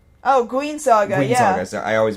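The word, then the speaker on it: Guin Saga: uh one one of your favorites here a gin Saga oh guen Saga Saga I always mispronounce that yeah that was for um the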